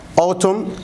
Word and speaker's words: autumn: they summer winter spring autumn the letter n is silent fall in american accent